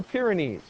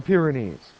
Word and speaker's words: Pyrenees: how to say it I don't care if you pronounce it wrong as long as you begin to learn the correct pronunciation they're called the Pyrenees the Pyrenees so that is the